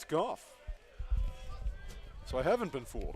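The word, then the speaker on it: Gough: offers ball two for the man whose name is spelled g-o-u-g-h it's golf it's golf so I haven't been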